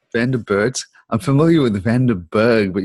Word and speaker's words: Van der Burght: Close enough. Vanderburt, something like that. Vanderburt. I'm familiar with Vanderberg, but you've got the extra bits on the end. So Vanderburt.